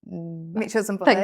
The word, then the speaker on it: Mitchells and Butlers: And then you moved into where you are now, which is Mitchells and Butlers. Thank you. Yeah. I was like, Mitchell, I didn't want to say it wrong. No, it's Mitchells and Butlers, but everybody, I literally still have to go to meetings now.